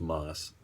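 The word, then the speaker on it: ます: actually just des and ma su is just moss why that is couldn't tell ya I'm sure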